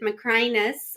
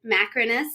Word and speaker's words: Macrinus: You can have a long I with Macrinus, or you can have Macrinus. It's fine. It is all acceptable and okay.